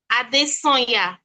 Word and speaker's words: Adesanya: Okay, so it's pronounced Ade-Sounya. Ade-Mayowa.